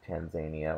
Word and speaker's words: Tanzania: a significant percentage of Tanzania or tan Tanzania either way is an acceptable pronunciation uh remain Muslim to